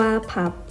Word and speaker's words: พับ: ตาม ต้น พลับ ซึ่ง ทาง อีสาน มัก จะ ออก เสียง สั้น ๆ ว่า พับ และ หลาย ปี ต่อ มา